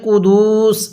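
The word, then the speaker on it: القدس: এখানে কুদুস এরকমভাবে টান দিব না, তাহলে বিরুহিল কুদুস এরকমভাবে শিখব।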